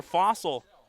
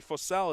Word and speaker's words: Fossell: That'll bring up Claire Fossel. Excuse me, Fossell is the correct pronunciation, I've been told.